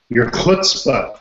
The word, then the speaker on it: chutzpah: It depends on your technical expertise and you know your chutzpah, if you will. Chutzpah. Now there's a nice Jewish word. So you actually pronounced it relatively correctly.